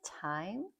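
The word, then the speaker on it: thyme: And do we have any time? Do we have any time? Right? Time spelled like this, T-H-Y-M-E. It's not time.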